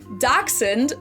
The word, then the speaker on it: Dachshund: Dachshund. Dachshund. Is a German word, clearly. However, when I first heard this spoken out loud... in English we say dachshund, I think, which doesn't actually make any sense to me now that